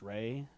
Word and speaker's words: Ralph: Actually, Ralph is pronounced Ray because of some fucked up thing.